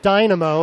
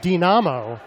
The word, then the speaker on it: Dynamo: I think we're going to go with the English pronunciation of Dynamo as opposed to the Russian Dynamo for this game against the New York Dynamo, formerly known as CP Dynamo.